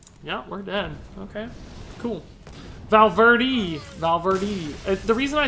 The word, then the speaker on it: Valverde: Can you please say the E sound at the end of my name and not the A sound? Yeah, Valverde. Valverde.